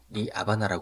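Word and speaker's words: La Habana: 위치한 호세마르티 공항이 되겠습니다 여기서 저는 미국식 발음인 하바나를 사용하겠습니다 스페인 바람으로는 리 아바나 하네요 카리브의 섬나라로 알려져 있는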